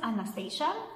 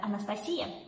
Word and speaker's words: Anastasia: husband and hello everyone my name is anastasia or as aaron said anastasia it's a russian pronunciation of the same name and this is my